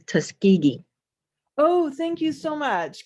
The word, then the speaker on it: Tuskegee: this is xena um the correct pronunciation of the airmen is tuskegee oh thank you so much can you say that one more time tuskegee okay thank you you're